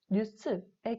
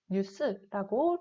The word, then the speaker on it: 뉴스: 세 번째 경우에는 이 니은과 리을이 들어간 단어가 외래어인 경우에는 두음 법칙을 적용하지 않아서 니은과 리을이 있는 그대로 발음하게 됩니다. 자, 라디오, 뉴스의 경우를 보면은 각각 니은과 니은이 가장 앞에 있어요. 그리고 우리가 두음 법칙을 적용할 만한 경우이지만 이 경우에는 우리가 외래어이기 때문에 그 원래 단어 그대로 발음을 해서 라디오, 뉴스라고 리을과 니은 발음을 모두 하게 됩니다.